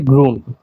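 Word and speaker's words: grün: ডয় হলো Burne গ্রুন একটা জিনিস যেসব শব্দে যে ওম থাকে সেগুলোর উচ্চারণ আর কি লিখে বুঝানোটা খুবই কষ্টকর এগুলো ভালোমতো বুঝতে হলে আপনি গুগল বা ট্রান্সলেটরে অডিওটা প্লে করে শুনবেন তো এটার উচ্চারণ হবে গ্রুম তাও আমি বুঝার সুবিধার্থে একটু লিখে দেই গ্রু গ্রু এমন আর কি যেটার অর্থ সবুজ ব্রুন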